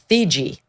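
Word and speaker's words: Theetge: Now the Cincinnati police chief, whose name is Teresa Thigi is how you pronounce her last name.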